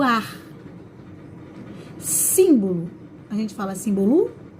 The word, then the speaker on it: símbolo: Símbolo, a gente fala símbolo? A gente fala simbolo? Ou a gente fala símbolo? Tá no símbolo, tá no sim, né?